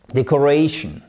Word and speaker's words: decoration: D'ailleurs, voyez décoration, là vous avez un accent tonique sur l'avant-dernière syllabe. Mais décorer, c'est on l'a vu au début to decorate. Vous avez l'accentuation, même s'il se ressemble beaucoup, même si c'est le nom et le verbe, sur la première syllabe qui est ici, sur cette partie. Decorate, decoration. OK.